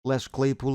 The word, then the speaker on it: Les Claypool: Les Claypool of Primus, there I said it right, leave me alone.